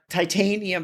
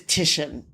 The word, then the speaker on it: Titian: And I should point out that some people may actually pronounce it titanium because the way it's the way that it's spelled, but it is Titian is his name.